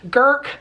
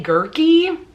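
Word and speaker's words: Guhrke: by Laura Lee Girk, or Laura Lee Girky is how the audiobook narrator pronounced her last name, and that just doesn't sound right to me. But who knows? That very well could be what her name is, but I've always pronounced it as Girk.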